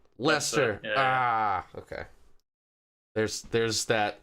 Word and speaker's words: Leicester: major which is the uh lie chester i hope i pronounced that lester ah okay there's there's